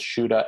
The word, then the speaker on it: Shuda: Sure, it's a, and then the last name is Shuda, Shuda. Well, I have to tell